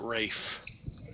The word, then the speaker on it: Ralph: kid in school yeah his name was spelled Ralph but he pronounced it Rafe ra what Rafe it